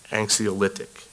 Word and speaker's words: anxiolytic: parens caline primarily anti-depressant not not antic anxiolytic is how I would pronounce that is that how you